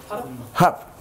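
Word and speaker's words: Höfn: Does anybody know how to pronounce it? Hup. Good job. H-U-P.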